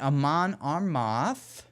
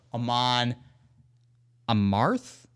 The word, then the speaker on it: Amon Amarth: I've got Amon Amarth. Wait, did I pronounce it right? No. Amon Amarth?